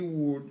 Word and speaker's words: would: ear donc W we would you would dans c'est comme le on prononce pas les l on dit il permet